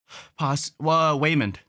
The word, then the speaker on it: Waymond: Waymond Yeah, yeah, Raymond with the W. with is it actually pronounced with a W?